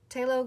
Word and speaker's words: phthalo: Phthalo green, phthalo green.